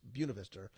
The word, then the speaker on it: Buena Vista: Vista University it's not it's spelled the same way the point of vista but it's Buena Vista Amanda bond I know